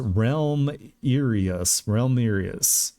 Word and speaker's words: Realmirius: project of which I call Realmirius, pronounced Realm IUS.